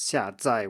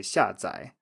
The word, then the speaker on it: 下载: said 下载 for download, so that's 下载 with 2 fourth tones, which is how it's listed in an authoritative dictionary, but most people actually just say 下载 with a third tone on the second syllable.